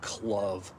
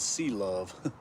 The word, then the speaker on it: C Luv: after the C because a lot of people will pronounce it club and I'm like oh no no no no it's C love.